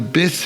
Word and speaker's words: bis: The Griffon is the bis variant of the FALKE. Bis, like biscuit, one syllable.